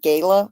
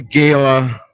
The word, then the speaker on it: gala: this Gala event or is it Gaya I never know how to say it but oh you can say it either way I think it depends on how rich you are you're really rich it's like the Gaya Gayla yeah it seems like the